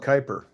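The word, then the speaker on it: Kuiper: system just beyond the Kyper belt okay it's spelled Cooper but you call it Kyper yeah Kyper Bel okay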